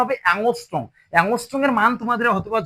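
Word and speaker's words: angstrom: এর উপর একটা জিরো দেওয়া আছে না, এর উচ্চারণ হবে অ্যাংস্ট্রম।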